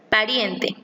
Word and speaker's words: pariente: En la primera palabra, pariente, la sílaba tónica es riem. En la segunda palabra, lejano, la sílaba tónica es ja.